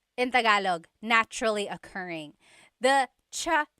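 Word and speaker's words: tsaa: that you drink and it's spelled TSA a cha cha that's such a talog spelling I love it there's the TS sound and then the double vowel uh pronunciation cha it's so talog yes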